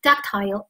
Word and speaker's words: ductile: 啊，或者读成 ductile 都可以啊，一个英音美音 ductile 什么意思？